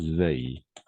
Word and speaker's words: veuille: On prononce veuille.